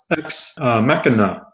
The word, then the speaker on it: Ex Machina: point okay I think the way they pronounce it was ex machina okay yeah but it's